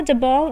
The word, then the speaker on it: jabot: ठीक है, freely extension लगा हुआ था जिसको जबॉ कहते थे। ठीक है, स्पेलिंग इसकी JABOT है पर इसमें T साइलेंट होता है, तो इसलिए मैंने हिंदी में कैसे प्रोनाउंस करते हैं वो भी लिख दिया।